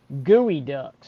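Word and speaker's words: geoduck: yeah the heat the huge clams we have up here uh in the pacific northwest are called gooey ducks it's spelled geo duck but it's a gooey duck right here it's just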